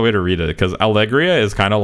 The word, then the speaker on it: Allegria: Why do you pronounce Allegria like Algeria? Grand Algeria. It's the meme. I pronounced it wrong by accident, and then people were like, what do you mean Algeria? And it became a meme.